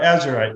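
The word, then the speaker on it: azurite: Yeah, Azerite.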